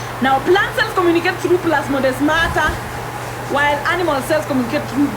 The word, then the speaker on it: plasmodesmata: Research about gap junction and plasmodesmata if you are interested, and then come tell me what you think. Plasmodesmata, it is written just the way I'm pronouncing it.